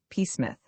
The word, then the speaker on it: Psmith: Peith. The P is silent.